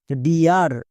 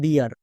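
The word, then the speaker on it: dear: যেমন দেখো ডিয়ার, এই শব্দটার সঠিক উচ্চারণ হবে ডিয়ার, বাট অনেকেই উচ্চারণ করছো ডেয়ার, তাই ভুল হচ্ছে।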